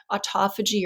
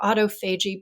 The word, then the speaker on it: autophagy: really crucial process called autophagy or autophagy both pronunciations are right that just means um